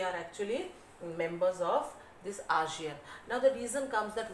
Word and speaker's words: ASEAN: Many of you pronounce it like Asian, but so far as we have learned, it is ASEAN, Association of Southeast Asian Nations.